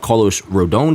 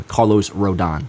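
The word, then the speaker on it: Rodón: in my graphic here he does have an accent over the O So apologies for me always messing up apparently the pronunciation of his name Carlos rodon bottom line is having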